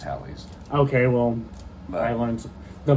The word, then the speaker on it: Halley's: I've always called it Halley's. It's not the typical. It's pronounced Halley's.